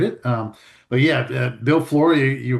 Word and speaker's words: Flohr: Um but yeah, Bill Flory, you pronounced it right.